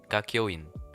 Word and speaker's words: Kakyoin: How do you pronounce Kakyoin? Kakyoin. Yeah, Kakyoin.